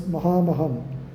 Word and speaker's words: Mahamaham: When it comes in the middle or end of the word, it becomes ha. For example, kalam is ka pronounced as ka only, whereas mukamakam, it is pronounced as mahamaham.